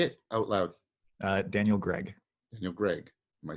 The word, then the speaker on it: Greig: a very like it's very close to other syllables I think that's all it is say it out loud Daniel Greg no Greg am I saying it right there